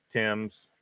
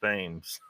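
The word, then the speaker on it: Thames: can make myself do that right Mr Lee Tims yeah you gota keep me you gotta get me pronouncing it right because in America that says themes it's spelled themes this Le says many old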